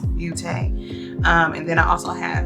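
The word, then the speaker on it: Beauté: I believe it's pronounced Beauty. It might be Beaute.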